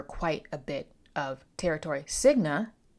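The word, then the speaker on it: Signe: a bit of territory siga I believe that's how you pronounce that s i g n e her husband AA ASLA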